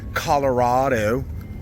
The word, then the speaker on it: Colorado: We're in Golden, Colorado. That's how they say it here. Colorado. You coming?